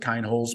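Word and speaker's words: Kienholz: holes I'm gonna call I'm gonna pronounce it kind holes because I'm 25% German my grandfather's name was Stein Mets spelled s n Stein Mets so I'm going to pronounce kind holes the same uh so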